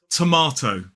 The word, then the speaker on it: tomato: So let's analyze these two pronunciations. So in a modern British RP accent and in general American, they both have 3 syllables with the stress on the second, and they both start with the same t. The first key difference comes in the second syllable with the pronunciation of R, that vowel sound R in a modern British RP accent, tomato, whereas in American English it's A, tomato.